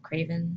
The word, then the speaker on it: Kravin: I say it's Kravin. But she says it, she pronounces it Kravin, so I'm guessing she's the one that's correct.